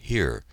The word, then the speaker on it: hier: We answered the roll call either with the French word présent or the German word hier, pronounced the same as our word.